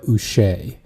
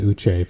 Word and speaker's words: Uche: he's been recently saying he wants it pronounced Joshua Uche, Uche. which Okay. is because I've definitely been calling him saying Uche for his entire career up until this point, but Yeah. it's apparently Joshua Uche.